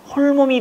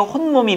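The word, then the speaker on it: 홑몸: 혼몸이 돼야 돼요? 혼몸이 되는 겁니다. 왜 뱃속에 나 혼자가 아니고 지금 누가 있잖아, 지금 더. 근데 이제 이게 발음 때문에 야, 홀몸이 아니네 이래버리니까 홀몸이라고 생각하는데 아니에요. 혼몸입니다. 왜?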